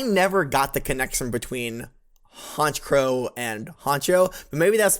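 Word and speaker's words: Honchkrow: Haunch Crow is almost certainly a pun on Honcho, since they are the leader and thus should be pronounced like that word.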